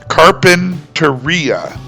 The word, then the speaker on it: Carpinteria: But Carpinteria, which is written in Spanish with an accent on that final letter I, is pronounced in that manner, Carpinteria.